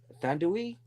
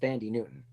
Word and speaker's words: Thandiwe: Although it's spelled Thandiwe. Thandui? Because I've heard it pronounced Tandy Newton. Or Tandy.